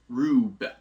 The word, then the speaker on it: R/B: The stylization for the name being R/B, which they are pronouncing in the kana for the series as Rube.